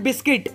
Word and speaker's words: बिस्कुट: चलो मेरे साथ एक बिस्कुट हो जा कोई सा भी, ठीक है, नॉट बिस्किट इज बिस्कुट, okay.